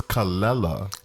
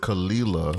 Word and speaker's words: Kelela: I love a newbie too her name is calella she has made it you know know that that is how it's pronounced people would normally pronounce it khalila oh see or Canada or someone else on